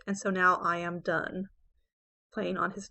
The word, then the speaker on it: Donne: to the restoration area his name was John Donne pronounced done and he's known as